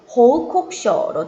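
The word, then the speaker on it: 報告書: 표기는 호우 코쿠쇼 돼 있지만 쿠 뒤에 사행이어서 쿠가 발음할 때는 묵음 호우 콕쇼로 들려요.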